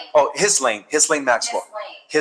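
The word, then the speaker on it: Ghislaine: And that explains why uh it was reported that Elene Maxwell is about to confess and reveal all the names of the list. Lee Maxwell, did I pronounce her name right? Oh, his lane.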